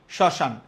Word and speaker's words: শ্মশান: বাদ থাকবা না ওকে শ্মশান আমরা জানি যে কোন স উচ্চারণে কি হয় তালবস হয় আর শব্দের প্রথমে ম ফলা থাকলে কখনো উচ্চারিত হয় না কিন্তু ম ফলা ফেলে দিলে উপরে একটা চন্দ্রবিন্দু দিতে হয়।